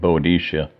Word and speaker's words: Boadicea: may be familiar with queen Boadicea someone said somebody some people pronounce it Boudicca whatever she was a